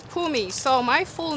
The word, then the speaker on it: Mpumi: okay tell me how to pronounce your name it's pumi it's pumi so my full name